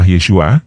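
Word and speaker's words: ישוע: tentunya adalah nama Yesus di dalam bahasa Ibrani pelafalannya adalah yesua atau artinya adalah Yahweh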